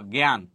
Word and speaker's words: জ্ঞান: হবে যেমন দেখো জ্ঞান এই জ্ঞান শব্দের উচ্চারণ আমরা কিভাবে করি মূলত এটার জন্য আমরা গজ ফলা উপরে চন্দ্রবিন্দু দিয়েছি এখানে আকার আছে আকারটা আমি দিলাম লাস্টে শ্বাস গেছি সেজন্য হসন্ত জ্ঞান গ ফলা উপরে চন্দ্রবিন্দু এটা এটা কিন্তু যদি এরকম